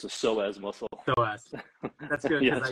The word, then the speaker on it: psoas: say it wrong again the p is silent it's not like the p and pineapple it's a psoas muscle that's good yeah